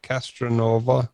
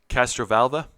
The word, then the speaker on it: Castrovalva: the um castron how do you say that castranova castrovalva that's the one castro vulva castro that's right